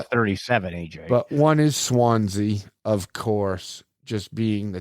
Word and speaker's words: Swansea: But one is Swansea, of course. Just being the town next door. You didn't say it right, AJ. Swansea!